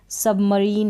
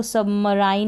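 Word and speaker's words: submarine: कुछ शब्दों में क्या होता है, आई का उच्चारण जो है ई होता है, जैसे कि यहाँ पर है ई। सबमरीन है, इसको सबमराइन नहीं बोलेंगे, ये है रिजीम।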